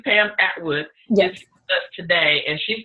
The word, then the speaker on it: Pam Atwood: come out Edward am I saying it correctly Pam Atwood yes us today and she's going to help